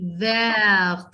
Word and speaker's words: vert: You're not going to pronounce T. Vert.